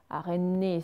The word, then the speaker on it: araignée: Alors que si vous prononcez le son NIE, comme dans araignée, NIE, déjà regardez ma